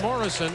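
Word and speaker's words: Mureșan: International Applause thank you George Morrison I understand is how he pronounces his name from Romania played in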